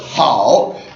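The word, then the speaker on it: 好: again third tone so H as opposed to how or how right but how is the word for good and the hanza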